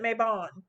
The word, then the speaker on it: Mabon: show you something so this is the maben some people pronounce it mabon uh Oracle all right